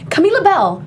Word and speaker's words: Camila Bell: to say my name camila bell there you go camila bell that's how you say my name camila labelle or you